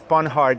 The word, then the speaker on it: Panhard: Okay, please help me to pronounce Panhard in French.